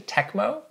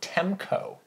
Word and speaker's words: Tecmo: dumb on my part the company Tecmo I used to call them temco oh that yeah like you transposed the letters but it's spelled t-e-cm